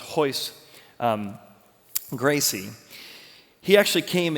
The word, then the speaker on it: Royce: first match Royce also it's written like Royce but it's pronounced hoist um Gracie he actually